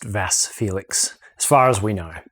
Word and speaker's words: Vasse Felix: about 22 and so Amanda assures me that it's pronounced vas Felix as far as we